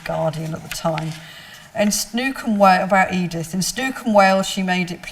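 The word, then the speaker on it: snoek: was snook it's called it's s-n-o-e-k and it's pronounced snook apparently um and it was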